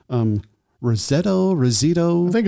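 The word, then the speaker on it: Roseto: the 60s there's this town say it again Rosetto RTO thank you Rosetto Pennsylvania and I'm from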